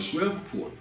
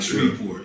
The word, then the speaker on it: Shreveport: She called it Shreveport, and Sway had to correct it. He was like Shreveport, you know what I'm saying?